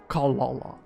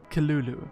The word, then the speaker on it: Cthulhu: It's actually pronounced Kalala. Kalulu.